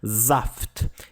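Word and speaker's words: Saft: azar significa suco usaf a letra s quando vem antes de uma vogal tem um som de z tá zaft e o ranjan significa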